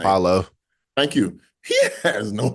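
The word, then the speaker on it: Paolo: And not only do they not have offense Paulo Pablo whatever how you pronounce his name? Paulo.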